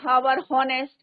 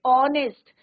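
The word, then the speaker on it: honest: अ आवर नहीं होता कई बार बच्चे बोलते हैं ना हार नेस्ट तो नेस्ट नहीं होता है इट इज ऑनेस्ट ओ क्या है आपका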